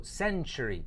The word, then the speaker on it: century: a century right so notice I'm saying send choo choo right there's a sound I'm not saying send Tori right so century century there's a very there's a CH sound when you pronounce this word century so he was born